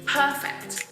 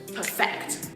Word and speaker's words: perfect: stress changes accordingly perfect the adjective perfect when we change that to a verb the stress changes to the second syllable perfect I have to perfect my work so it will be